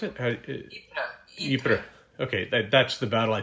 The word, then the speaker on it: Ypres: How do you pronounce it? Ypres.